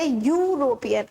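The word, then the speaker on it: European: Second word pronounce करिए यूरोपियन। अब देखिए, यूरोपियन भले ही ई से शुरू हो रहा है, बट हम साउंड के अकॉर्डिंग लगाएंगे आर्टिकल, हम वर्ड लेटर के अकॉर्डिंग नहीं लगाएंगे।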